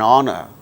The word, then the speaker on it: honor: so for instance for instance words beginning with a silent h in the words hour an hour an honor an honest man an heir an honorable man in all these cases these words begin with h which is a consonant letter but H becomes silent and these words produce